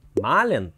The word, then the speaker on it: mahlen: А вот глагол malen надо произносить с долгим «а», чтобы вас правильно поняли.